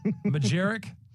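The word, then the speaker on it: Majchrzak: Majeric. Sure. Hey, pretty good. Yeah, as far as I've heard other pronunciations from pronunciations.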